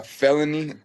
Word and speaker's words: FELXNY: I see you have this new song with uh Can you pronounce his name for me? Uh, felony.